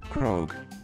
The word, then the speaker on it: Croque: Croak. That's right, that's how it's pronounced.